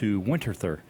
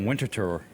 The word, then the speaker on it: Winterthur: to go up - winterthur really yeah yep you pronounced that correctly no actually I think it's like a winter tour I think what really